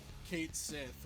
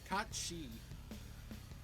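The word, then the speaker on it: Cait Sith: Yeah, it's really weird that they pronounce it Kate Sith when it should be Katshi. At least that's how you pronounce it in Gaelic, which that's what it's from.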